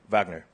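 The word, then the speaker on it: Wagner: right for 10 remember the W is pronounced V when saying the name of which composer of Twilight of the Gods and zik freed Vagner yes Richard Vagner is right for all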